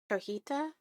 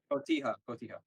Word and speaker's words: Cotija: Cojita? See. Cotija.